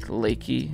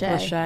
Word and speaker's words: Lachey: Nick Lakey. Is that how you say it? Nick Lachey.